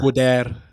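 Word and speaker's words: Goedert: He's weak to actually pronounced a gair. Gdair Dallas God.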